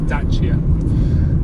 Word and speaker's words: Dacia: when when renault bought dasia i think it's i think it's pronounced i think the proper pronunciation is dacha uh but i'm going